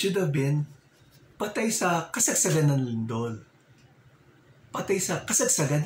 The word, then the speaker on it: Kasagsagan: Patay sa kasagsagan ng lindol. Patay sa kasagsagan ng lindol. Patay sa kasagsagan. Kasagsagan ng lindol. It should have been patay sa kasagsagan ng lindol.